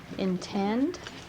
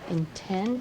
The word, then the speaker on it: intend: again that's exactly right intent do you see how i sort of skip right over this first syllable quickly and get over to this one same thing here percent